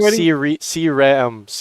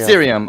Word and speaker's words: Serium: Killers are saying um serum. Serium. Serum. Serium. Okay. Like serial.